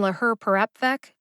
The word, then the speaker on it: laherparepvec: in la her perapvec two syllables get emphasized now i'm just gonna say it's really easy to see if you look at the written pronunciation in the show notes since you're listening to the audio however please note that the second syllable her gets the secondary emphasis and the fourth syllable rep gets the primary emphasis both syllables get emphasized